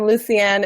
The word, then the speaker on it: Lucienne: and actually have those conversations I'm here welcome Lucen am I pronouncing your name properly yes yes Lucien is it well thank you so much for